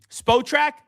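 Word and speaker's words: Spotrac: Spo or spot rack? How do you say it? Do you know what I'm the contract site? Yeah, I I haven't heard it the first way you said it. Spottrack.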